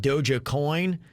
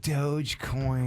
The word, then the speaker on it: Dogecoin: it trips people up it's spelled d o g e c o i n so a lot of people think it's like doja cat and they call it dojo coin it's actually just dogecoin dogecoin dogecoin just don't